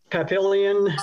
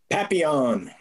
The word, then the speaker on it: Papillion: And this is Papillion, Nebraska. Papillon.